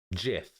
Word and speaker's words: GIF: has caused right like you either say that with a hard G or a soft G you either say GIF